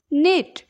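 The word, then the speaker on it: knit: ওয়াসম্যান means ধোবা next নেট নেটলে বুনিবা নেট কে এন আইটি নেট means বুনিবা এটি আমরা কে silent রব খালি আমি নেট পিবা okay নট নট means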